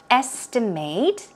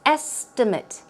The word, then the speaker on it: estimate: In today's actual talk, we had estimate in the verb form, estimate. And if it's used in the noun form, it's estimate, estimate, pronounced differently, okay?